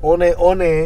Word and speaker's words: Hoka One One: Hoka one one, but it's a Hoka 1-1, but it's pronounced one one.